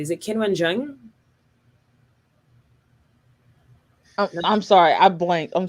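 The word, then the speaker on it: Qinwen Zheng: Is it Kinwen Zheng? I'm sorry. I blanked. I'm so sorry. What was the question? If I'm just pronouncing her name correctly.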